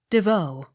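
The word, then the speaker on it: Des Vaux: v a u x devoe the x not sounded d e v e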